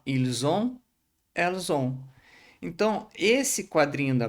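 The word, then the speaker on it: ils ont: Então vai ficar ilzon ou elzon, tá bom? Não pronuncie esse t final igual eu coloquei aqui, ó. Ilson elzon.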